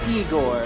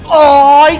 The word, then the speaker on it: Igor: creation he's alive so you must be eigor no it's pronounced oor I am your grandfa